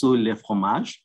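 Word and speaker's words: Le Fromager: here i must say my tutor told me that i must be careful of not pronouncing the r at the end because i'll be speaking of cheese instead of the tree so i hope i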